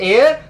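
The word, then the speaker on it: heir: और यहां पर एयर का मतलब क्या है, एयर जो है यहां पर क्या है, एच यहां पर साइलेंट है, एयर वोबल साउंड है, वोबल साउंड है, तो क्या होगा यहां पर, एन होगा।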